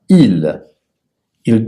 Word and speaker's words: ils: Le S n'est pas prononcé. Et je vais dire le verbe à l'infinitif. Et toi, tu dois dire le verbe au temps présent. Par exemple, jouer, il joue. Descendre, ils descendent.